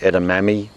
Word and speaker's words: edamame: it I initially tried edamame or you could say edamame if you say it the way it's spelt at a Japanese restaurant